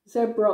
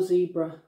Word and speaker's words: zebra: in one go yeah zebra or zebra i guess if you're american you might pronounce it zebra um and the reason